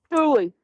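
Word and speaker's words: tule: It is tulle fog. Is that how we pronounce it, honey? Uh, tulie.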